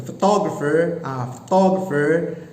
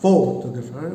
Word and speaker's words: photographer: Okay, the photographer, so not photographer but photographer, and then the second syllable is given main stress.